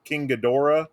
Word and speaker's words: Ghidorah: This was basically Godzilla, and I think I'm going to get the name wrong, but King Ghidorah.